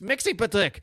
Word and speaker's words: Mxyzptlk: So Mxyzptlk is getting increasingly frustrated with Kane not being able to pronounce his name, and he keeps correcting him. He says, no, it's Mxyzptlk.